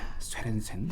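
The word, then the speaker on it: Sørensen: 쉐렌센 교수님. 이거 너무 어려운데요. 어떤 분이 비르게르 뭐라고? 라고 자 다시 한번 시원하게. 앵거스 달글리시 그리고 비르게르 쉐렌센. 예. 쉐렌센. 예. 쉐렌센. 다르네요. 북유럽 쪽 발음입니다.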